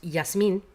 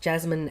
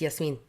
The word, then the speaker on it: Jasmine: um not Aladdin And jasmine would be pronounced yasmine as a name, not jasmine as in the herb and the the flour and the rice. Um, no, it's yes mean.